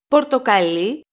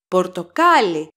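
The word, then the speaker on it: πορτοκαλί: syllable of the word so Porto Cali is the color the stress is on the last syllable but Porto Kylie that's the fruit the accent is on the second syllable from the last pass see path see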